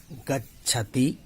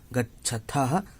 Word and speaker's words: गच्छथ: मध्यम पुरुष के बहुवचन में गच्छत करके छोड़ देते हैं। नहीं, वहाँ पर जो वर्ण है वैसा उच्चारण देख के करें।